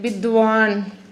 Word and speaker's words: विद्वान: अब देखो गुणगान अभी बोले थे ना गुणगान कभी-कभी ऐसा पाई ऐसे लिखा रहता है जिसमें आधा का ही उच्चारण होता है मतलब उसको फटाक से बोलना उसमें आ नहीं लगाना ए नहीं लगाना ठीक है बहुत सारे